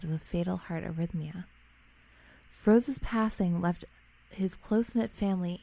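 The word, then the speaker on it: Froese: So in June 2011, 32-year-old Jack Fronze... No. How do you say his last name? I say Froze.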